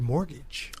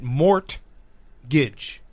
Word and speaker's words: mortgage: to say the word mortgage. Oh, yeah. He doesn't know how to say the word mortgage. He pronounces it mort-gidge.